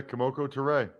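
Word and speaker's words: Kemoko Turay: aj green and the niners signed defensive end komoko toure is that do i pronounce that correct yeah yeah komoko turay by the way last thing about the washington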